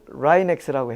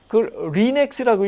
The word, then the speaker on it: 라이넥스: 그 익스텐션이에요 그걸 합성하니까 그걸 라이넥스라고 했어요 그러니까 이제 리넥스라고 읽을 수가 있잖아요 그래서 자 라이넥스 리넥스를 앙케이트 조사를 했어요 어떤게 부르기 쉽고 멋있느냐 그래도 리넥스는 촌스럽잖아요 라이넥스 그래서 라이넥스라 그랬어요 그러면 천도 우리는 x가